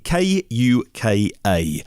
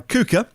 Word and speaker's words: KUKA: In the fourth quarter of 2019, KUKA, a company K-U-K-A, I think I would pronounce them KUKA.